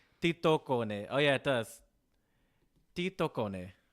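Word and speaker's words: tietokone: I'm going to say titocone. Oh, yeah, it does. Titocone. And it means knowledge machine. It's probably Tito Cone because Finnish, I believe, has the stress on the first syllable.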